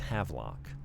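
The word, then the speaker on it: Havelock: I've been putting an extra little schwah syllable in there, but it's Havlock.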